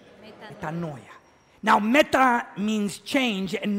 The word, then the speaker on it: metanoia: word repentance is translated from the Greek word metanoya would you pronounce that after me metanoya metanoya now meta means change and Noya means n